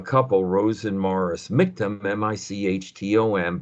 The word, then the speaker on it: Michtom: Rose and Morris Michtom, Michtom, by the way, you're welcome to ask me to send you the story, and you'll see that rhymes with victim.